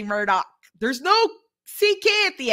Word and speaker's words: Murdaugh: It's spelled M-U. R-D-A-U-G-H, Murdaugh, but the family name is, the way they